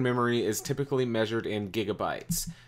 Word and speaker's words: gigabyte: Just a note, it is pronounced gigabyte with a hard G like growl or go, not a soft G like gosh or groan or gigawatt, as in 1.21 gigawatts from Back to the Future.